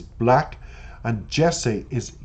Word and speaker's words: 6LACK: Six Lack is Black and Jessie is Yessie